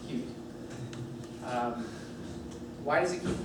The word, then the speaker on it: Qt: I should say uh it's pronounced cute, apparently. And I I mispronounce it all the time, so I don't mind if you do. Um, but I I should say that QT is pronounced cute.